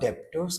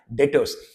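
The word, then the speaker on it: debtors: सर, आप डेप्टर्स क्यों नहीं बोल रहे? क्योंकि इंसल्ट हो जाएगा। बी साइलेंट रहता है मेरे बच्चे। आपको भी ध्यान रखना है। कभी भी डेप्टर्स नहीं बोलने का। क्या वर्ड बोलना है? डेटर्स।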